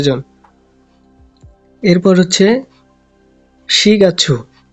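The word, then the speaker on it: 四月: এরপর হচ্ছে শিগাচ্ছু। মাসের হিসাব করার সময় 4কে শি বলা হয়।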